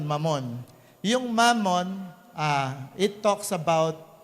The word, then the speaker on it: Mammon: Hindi, mabilis lang ang bigkas nun, Mammon.